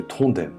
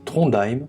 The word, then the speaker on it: Trondheim: visite la ville de trondem à ne pas prononcer trondim comme à l'allemande situé au milieu du